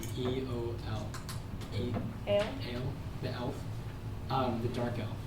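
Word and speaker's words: Eöl: Ale, the elf, the dark elf, Yeah.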